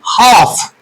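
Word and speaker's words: half: इस वर्ड को हम कहते हैं हाफ। एल को हम प्रोनाउंस प्रोनाउंस नहीं करते।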